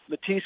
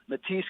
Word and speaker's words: Mathys: to raise money the website is simple it's matisse congress dot com the name is spelled m-a-t-h-y-s congress dot com we would be